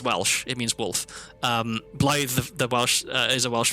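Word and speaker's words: Blaidd: Yeah, they say blade, which is like if you only see it written down, I could understand that, right? Like B L A I D in English would be pronounced blade.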